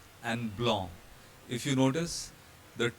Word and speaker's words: blanc: Consonants at the end of the word have a very special feature. They are not pronounced, they are ignored. For example here, ver, salut, and blanc.